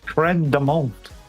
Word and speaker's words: crème de menthe: French crème de menthe. Crème de menthe. Crème de menthe. That's how it's pronounced.